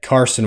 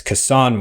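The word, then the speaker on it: Cason: about the pronunciation of I used to say kase Wallace's name you said Carson Wallace so I corrected you to kase Wallace which is actually also wrong because it's cassan Wallace apparently um everyone I ever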